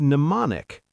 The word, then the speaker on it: mnemonic: There's mnemonic, M-N-E-M-O-N-I-C. Ah, yes, mnemonic, a memory trick. How ironic that the word for memory tricks has a letter you need to remember is silent.